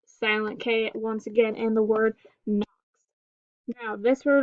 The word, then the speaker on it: Knox: So we have silent letter W in the word wren, silent letter K in the word Knox, silent letter B in the word lamb.